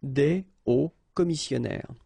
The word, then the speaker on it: des hauts commissionnaires: And if you're a bit careful, you can hear that un haut commissionnaire and des hauts commissionnaires, well, clearly it is pronounced the same way. So you put the S at the end of both things here, okay, but then you don't pronounce them, so it will be phonetically almost the same, okay, in most of the cases.